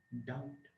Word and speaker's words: doubt: Doubt, the B is silent.